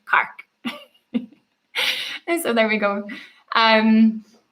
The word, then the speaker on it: Cork: So if you've ever been to Cork in the south of Ireland we actually it's not really pronounced Cork. It's pronounced Kark.